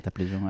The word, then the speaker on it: Taplejung: Sanguay, tu as grandi dans les montagnes de Taplejung, c'est comme ça qu'on prononce? Oui, c'est ça, Taplejung, à l'est de Népal.